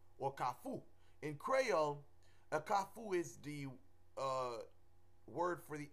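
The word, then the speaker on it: Kafou: In Creole, a Kafu is the word for the intersection. That's the correct pronunciation. But you have, in the West, people who don't know, they say Kalfu with a L, Kalfu, and it's not the correct pronunciation.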